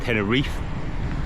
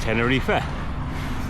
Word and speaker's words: Tenerife: I'm pronouncing it tenifa a lot of English people or in first language English speaking people Willa call it tenner Reef but the locals call it tenner reefa so do as a